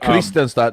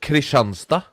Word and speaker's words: Kristianstad: Before this whole conversation dies, it's not Kristianstad, it's Kristianstad.